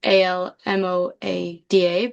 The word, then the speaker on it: almohada: And also the spelling of the word almohada, you would think it's like from the way that it's pronounced Almoada, but it actually has an H in there too, which is one of